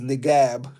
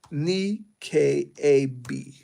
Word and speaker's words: Niqab: That's as bad as Nigab. That's wild. That girl said Nigab. That girl said Niqab. But I might be saying it wrong. It's because she said it's not a B, it's a Q. Nikab.